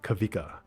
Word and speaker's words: Kawika: And then I realized that I don't know, but I think that Hawaiians they pronounce the W's like a V, I see.